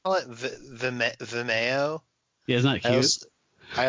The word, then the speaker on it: Vimeo: I like call it Vimeo.